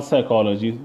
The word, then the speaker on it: psychology: many times that you have to learn the pronunciation because for example otherwise say it is written pneumonia or psychology the psychology what is starting with the P